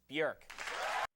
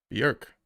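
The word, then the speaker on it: Björk: Please welcome from Iceland, Berk. Bjork. Okay, that's what those dots at the top mean. Okay, so the J is silent.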